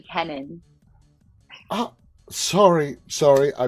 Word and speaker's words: Kennon: uh Lynch and Keenan welcome guys how are you all doing tonight great thanks for having us yeah it is my also my last name is actually Kenan sorry sorry I butchered